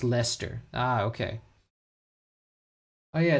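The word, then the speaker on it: Leicester: It's like it just reminds me of Lancaster pronounced Lester.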